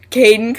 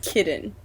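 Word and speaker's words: Kaidan: Okay, he's even made comments about the fact that it looks like it's spelled kitten, not Caden.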